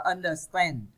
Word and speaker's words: understand: Câu A các bạn đọc là understand, understand. Các bạn nhấn phần 3.